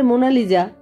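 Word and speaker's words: Mona Lisa: মোনালিসা ছবিটি রাখা আছে সাহেবরা এখন উচ্চারণ করে মোনালিজা কিন্তু বাংলাতে মোনালিশাই চলে আসছে একদিন সকাল 10:00 টা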